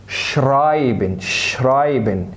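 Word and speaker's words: schreiben: شرايبن اللي اي تنطق اي.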